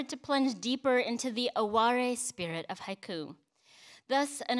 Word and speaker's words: aware: sense of aware and aware is spelled the way we um have it in english aware a-w-a-r-e it's actually comes from the japanese word aware um and there's so